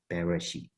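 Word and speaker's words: בראשית: So you kind of have to pronounce it with the consonants, Bareshiyth.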